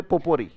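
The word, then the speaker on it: potpourri: अब जो वर्ड आपने बोला देखो ध्यान से, मैंने कहा इसमें जो टी साइलेंट है, राइट। स्पेलिंग याद करने का तरीका मैंने कहा था, स्पेलिंग याद करने का एक ही तरीका है कि वर्ड को तोड़ लो साउंड्स में, राइट। जैसे ये पॉट है, पॉट पढ़ा, यस और नो, पर ये पॉट में टी साइलेंट रहता है। बोले पो, पोर, पोर आप जानते हो ना, कोई चीज किसी में उड़ेलना, राइट। पोट और पोर, राइट, पोट और पोर।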